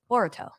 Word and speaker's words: Boruto: Anybody in the chat a Boruto fan? I hate how you pronounce the Ru. Like you put the emphasis on the Boru. What is it? Boruto. There you go.